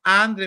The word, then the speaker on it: André: Lleva André, acento en la E. André. Perdóname, no. Que soy menso. Pero lleva acento en la E, no en la A.